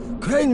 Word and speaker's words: Crane: Crane rhymes with train and brain and sane and grain and rain and plane and the other kind of plane and...